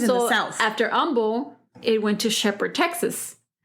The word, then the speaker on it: Humble: an H but with the H is silent h Umble as in down the